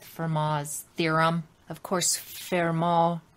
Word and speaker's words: Fermat: moz theorem of course fairmont pronounced uh in french but written f-e-r-m-a-t and this gentleman was